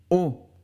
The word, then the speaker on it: haut: adjectif qui est au haut ça c'est pour le masculin on prononce au comme la lettre o en espagnol au et enfin haute